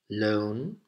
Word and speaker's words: loan: Then we have loan, L-O-A-N, which rhymes with own.